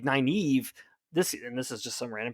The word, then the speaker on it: Nynaeve: One, like Nynaeve, this is just some random person online, claims that Jordan pronounced it Nineveh, which is crazy.